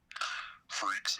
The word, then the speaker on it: Phreqs: But I would do Freaks. It's spelled Phreqs.